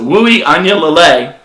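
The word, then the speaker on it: Uiagalelei: Look, next up, five-star quarterback DJ, and listen to the way I pronounce it, Wui Anyalele.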